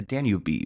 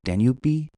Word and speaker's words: Danube: Let's try British. Danube River. Danube River. Oh, I like that better. The Danube River.